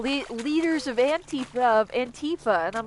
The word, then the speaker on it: Antifa: Also they always pronounce it Antifa like it's a fucking video game character. I'm like, it's Antifa. It stands for anti-fascist.